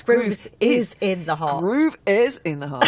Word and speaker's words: Groove Is in the Heart: I just have to say, actually, I thought it was Groovers in the Heart. Have I said it wrong? No, you said it right. It's Groove is in the Heart.